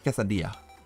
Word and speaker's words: quesadilla: and I'm just like, if I ever unironically heard someone say quesadilla, I think I would actually want to punch them in the face. It's quesadilla. Say it right.